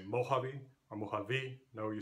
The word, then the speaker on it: Mojave: Notice that this word Mojave has that sound H in English, but it is spelled with a J, so we have to be careful in English especially that words may sound the same, but they may spell the sound differently.